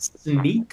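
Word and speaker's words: Snyk: the field CTO at sneak uh which is pronounced like a pair of sneakers or sneaking around it's also an acronym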